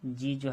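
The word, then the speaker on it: judge: ये आपका जज है तो इसमें आपका ये डी जो है ये साइलेंट वर्ड है।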